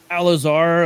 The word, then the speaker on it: Al-Azhar: Al-Azhar.